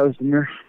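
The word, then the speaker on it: Özdemir: Yeah, Ozdemir.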